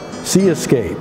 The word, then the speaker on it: See-Escape: work is called Island Sea Escape by the artist Yan Capote who lives today in Havana and C is spelled SE as if you can observe Escape but clearly the Escape